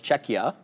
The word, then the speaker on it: Czechia: the tournament but like Czech Republic is not called Czech Republic anymore it's czechia oh right you're calling the